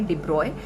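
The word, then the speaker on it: de Broglie: Of matter भी है, जो डिब्रोगली लिखा जाता है और उसका प्रोनाउंसिएशन है डिब्रॉय।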